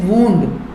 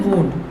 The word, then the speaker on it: wound: This is वुंड, इसका pronunciation वुंड, जिसका मतलब है जख्म और घाव।